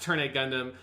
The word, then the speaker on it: Turn A Gundam: v gundam so he's decided well so it's pronounced turn a gundam and to make sure that everyone knows that